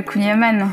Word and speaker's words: kouign-amann: ou hiver far breton ou kouign-amann ah le kouign-amann j'espère que je l'ai bien prononcé ouais ça va ça passe ça se